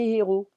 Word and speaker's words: héros: Ses amis, ses étudiants, mais ses héros. Ses héros, ses héros. I'm not gonna say ses héros because it's like these zeros. So ses héros.